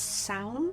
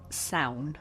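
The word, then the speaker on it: Samhain: bad I think it's I think it's pronounced sound please please feel free to correct me on that pronunciation cuz I am trying really hard to get it right I believe it's pronounced sound but it spelled like this but it's believed that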